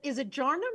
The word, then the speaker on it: Jarnum: Now, is it Jarnum? Is that how I pronounce it? Yes, okay. That is it.